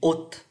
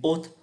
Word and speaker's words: hotte: Chúng ta có một cái loại máy và bây giờ cũng khá phổ biến là máy hút mùi, une hotte, không phát âm cái từ s, une hotte, máy hút mùi để trên cái cuisine này.